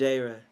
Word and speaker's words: Jayrah: It's Jayrah. Jayrah. Yeah, maybe I got to be in your ears one there time. There you go, Jayrah. Jayrah.